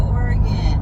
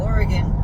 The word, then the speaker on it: Oregon: Or as a lot of people pronounce it, Oregon. Even though there's no E, people pronounce the gon the way it's pronounced. But Oregon, honestly, why isn't it spelled with an A? Because that's how we say it out here.